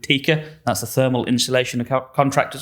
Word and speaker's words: TICA: So I'm a technical director at TICA. You pronounced it as I do.